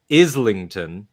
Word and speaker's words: Islington: but he is from Islington, as I learned, right? Oh, that's right. Islington. And one time, I referred to it as Islington because that's how it reads, because that's how Isle is spelled.